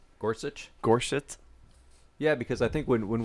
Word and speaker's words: Gorsuch: How do you pronounce his name? Gorsuch. Gorsuch.